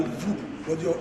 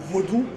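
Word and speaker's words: Vodun: other worldall from there it was corrupted to voodo but originally it is called vodu and it is spelled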